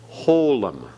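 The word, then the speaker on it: holam: This vowel is called holum. Holum. Okay, notice the O sound, holum.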